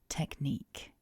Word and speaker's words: technique: Remember, we've got two K sounds in this word. Technique.